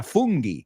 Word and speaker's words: fungi: Fungi es el plural, que suena como un tipo divertido. Why? I'm a fun guy. You've all seen it cuando pedís la pizza fungi. Well, we pronounce it fungi.